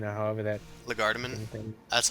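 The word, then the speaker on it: légèrement: hand, leisure germain, or however that Lagardeman. thing. That's how I pronounce it.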